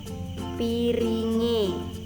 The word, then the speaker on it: piringe: Contohnya itu yang pertama piring plus e, jadi bacanya itu piringe.